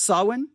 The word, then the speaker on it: Samhain: one more time sawwin sawin all right the word sawin now here's what i'm gonna do okay that's the word of saw when again it's spelled s-a-m-h-a-i-n but it's sawin i'm gonna do something